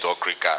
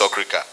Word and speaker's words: Okrika: call my father's mate Okrika, and they will say, why are you calling? Sir, is that the correct pronunciation, sir? It's Okrika.